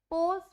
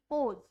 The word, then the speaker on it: pose: पोज, POSE, पोज, ज की sound दे रहा है क्योंकि वो ओ और ई के बीच में, ओ और ई दोनों ही हमारे वोवल्स हैं, वोवल्स के बीच में आ रहा है इसीलिए हम उसको ज की साउंड देते हैं, पोज।